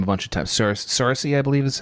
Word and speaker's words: Saoirse: Saoirse, I believe is how you say it.